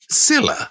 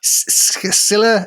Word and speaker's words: Scylla: Scylla? Scylla, Scylla. Not like Scylla Black.